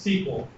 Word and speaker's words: SQL: database all right so SQL stands for structured query language and sometimes a lot of times it's pronounced sequel the standard way for